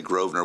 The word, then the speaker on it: Grosvenor: Another Title 49 special use of the right-of-way request for a property at 145 Grosvenor, and I say Grosvenor with emphasis. That S in that street is silent.